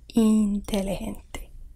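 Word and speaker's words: inteligente: hombre not hombre ombre i is pronounced much like e in english and an example is intellegente which you may surmise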